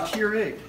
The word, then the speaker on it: Keurig: Is that how you say it, Keurig? Yes, the Keurig.